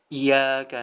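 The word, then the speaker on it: إياك: dengan iya iya gitu tanpa memberikan tasdid pada huruf Iya padahal disitu ada tasydid ya bukan iyyaka nabudu wa iya ya seharusnya ada penekanan disitu karena ada tasdid jadi cara bacanya Iya agak ditekan di situ iya iya karena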